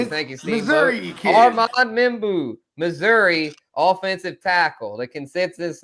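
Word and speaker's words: Membou: Membu, thank you. Armand Meu, Missouri offensive tackle.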